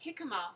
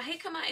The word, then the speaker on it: jicama: So some people will probably think it's called jicama because it's spelt with a J, but it's a silent J, possibly because it does come from South America.